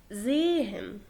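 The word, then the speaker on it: sehen: زيهن. زيهن. انت بتحس بالها بس خفيفة خالص، ولكن لو الها جت في اول الكلام بتنطق ها.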